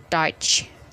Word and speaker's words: Deutsch: tidak dibaca melainkan oi contohnya dalam kata bahasa Jerman itu adalah deutz tulisannya Tapi bacanya touch Hai aha so that